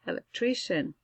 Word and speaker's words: electrician: Electrician. Electrician. Shh. Eso suena como shh. Electrician.